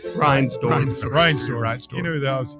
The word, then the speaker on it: Reinsdorf: I can never say his name right. Reisendorf. Reinsdorf.